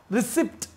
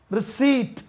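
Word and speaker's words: receipt: அடுத்து பாருங்கள், ரிசிப்ட். ரிசிப்ட்னு சொல்லுவோம் இல்லையா, இது ரிசிப்ட் இல்லை, ரிசீட் பாருங்க, ரிசீட். இதுதான் கரெக்டான உச்சரிப்பு, ரிசீட்.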